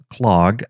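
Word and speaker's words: klog: then we have clogged k-l-o-g or at least that's how i pronounce it and what this will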